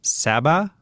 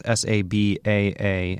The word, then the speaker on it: Sabaa: I'm not going to pronounce her last name properly, but it's, I think, Sabah Tahir. It's Sabaa, and her last name is Tahir.